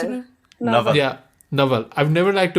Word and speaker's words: Naval: Is that how you pronounce it? Naval.